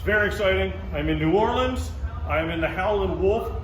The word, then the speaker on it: New Orleans: You said it right the first time. Damn it. You said New Orleans, you nailed it.